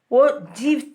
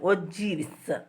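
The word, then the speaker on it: ogive: OGs, that is the correct pronunciation. OGs.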